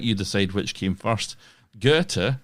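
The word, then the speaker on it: Goethe: Gerta, and I've had help in the pronunciation of that hopefully.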